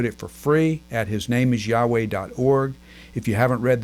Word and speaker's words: Yahweh: in casual conversation now probably a better pronunciation of the name of God is Yahweh because there is that that accentuated sound in the middle that most of us